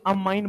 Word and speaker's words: ammine: NH3 को spelling के साथ याद रखना है, AMMINE, अमाइन बोलते हैं।